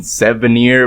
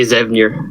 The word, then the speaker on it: Xevnir: been saying it wrong i've been saying seven year but i'm sure like i'm mispronouncing it so why didn't you tell us how to pronounce your name you know what to be very honest i don't know myself it's uh i just say zavner and it's like a